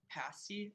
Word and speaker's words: pasty: What are 2 of the 4 main ingredients in a pasty? Am I pronouncing that right?